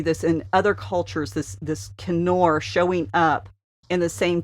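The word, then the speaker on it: כִּנּוֹר: In Hebrew, this is pronounced Kenor, and it appears 40 times in the Old Testament.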